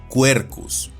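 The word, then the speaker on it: Quercus: en este ejemplo, donde este género se pronuncia y castellaniza como cuercus.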